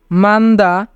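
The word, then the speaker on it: 많다: অপতা অপতা মানে নেই মান্দা মান্দা মান্দা মানে বেশি যদি জোড়া বাচ্চিম থাকে এবং তারপরে ইয়ং না থাকে তবে দ্বিতীয় বাচ্চিমের উচ্চারণ হয় না তাই এখানে হিউতের উচ্চারণ হবে না তাই উচ্চারণ হবে মান্দা মান্দা মানে বেশি সালদা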